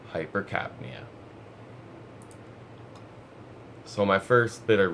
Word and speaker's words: hypercapnia: headache or hypercarpinia which this is how it's pronounced hypercapnia hypercapnia so my first bit of research comes from